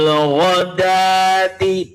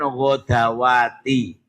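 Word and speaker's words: غداة: 28 bil ghodati bukan ghodwati. Hati-hati di Quran rosem utsmani. Rata-rata kayak fil hayati iku di atas huruf wau ada harakat farha berdiri ya. Sementara yanya diberi harakat pen pendek. Akhirnya keliru bacanya hayawati salah. Itu sebagai tanda panjangnya ya. kayak godawati ya tulisannya itu dalnya dibaca pendek wunya dibina harakat berdiri itu panjangnya untuk dal jadi bacanya nah itu hati-hati di situ jangan keliru bil ghodati silakan bilati bukan ghodawati ya kalau enggak ngerti kan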